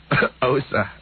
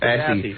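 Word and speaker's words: Aase: Osa. Osa. Yeah, but it's spelled A-A-S-E. Assy. Osa.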